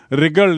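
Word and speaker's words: wriggled: तो WRI, तो I somehow रिगल्ड आउट of this situation. I somehow रिगल्ड आउट of this situation. W silent है.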